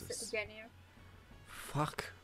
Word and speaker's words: Ginyu: They pronounce it as Ginyu.